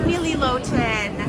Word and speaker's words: Nili Lotan: Oh, I love Nili Lotan.